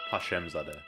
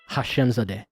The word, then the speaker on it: Hashemzadeh: Hashemzadeh. Hashemzadeh.